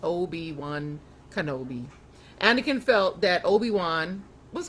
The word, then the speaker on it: Obi-Wan Kenobi: Anakin Skywalker's teacher was called Obi-Wan Kenobi, pronounced Obi-Wan Kenobi.